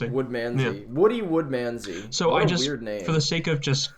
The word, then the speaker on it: Woodmansey: I will figure out how to actually pronounce his name correctly. Mr. Woodmansey. Yeah, no, you're right. You're right. It's Woodmansey. Yeah. Woodmansey.